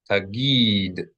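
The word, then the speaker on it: תגיד: Two syllables, T-A-G-E-E-D, tagid.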